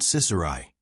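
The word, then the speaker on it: ciciri: Sicilians stressed the first syllable of the word Cicerai, chickpeas, while the French stressed the second.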